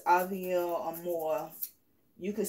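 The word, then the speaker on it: Paville: with an A, because a lot of people didn't know how to pronounce her name. And they would say Pavil, and the P is silent.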